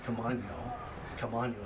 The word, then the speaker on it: Camaño: Well, Joaquin Camaño is how you would actually pronounce that in Spanish, was an early Spanish explorer up here.